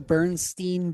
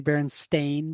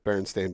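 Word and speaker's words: Berenstain: one huh how about uh how about the Burnstein bears and and it's actually Baron stain Bears yes it is Baron it's always been Baron stain Bears I've got some of the OG books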